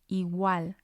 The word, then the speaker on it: igual: So again, we have 2 syllables here, igual, and we're going to stress the A on igual, igual. You can hear the difference there, and it's because it's the strong vowel.